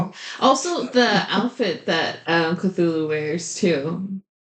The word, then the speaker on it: Cthulhu: except they say we say Cthulhu and when she said her name in the anime it was like filthful like they said it she said it really weird. It's probably because the pronunciation in Japanese doesn't work for Cthulhu.